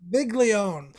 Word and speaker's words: Viglione: alone right big leon big leon that's right it's actually pronounced how it looks like it should be pronounced without putting the italian thought behind it i think right or